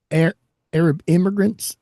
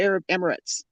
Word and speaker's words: Arab Emirates: Arab immigrants. How do you pronounce that? Yeah, you done messed it up. Huh? Yeah. The Arab Emirates.